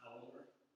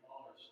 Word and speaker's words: Auler: And I chased down Shirley Maddox to get the correct pronunciation of Henry's last name, which she says is Auler, not Auler.